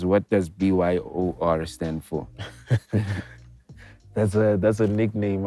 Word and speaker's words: BYOR: You know, BYOR came in immediately, and it's BYO, but I thought people won't know how to pronounce it, BYO. Yeah. So I just put the R at the end so people know it's BYOR.